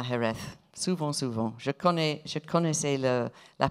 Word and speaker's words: Jerez: devez corriger la prononciation, nous l'appelons sherry, c'est Jerez, Jerez, le Jerez, Jerez.